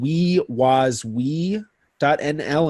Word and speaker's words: WieWasWie: Another one is called WeWasWe.nl, and that's spelled WIEWASWIE, and it's Dutch for who was who.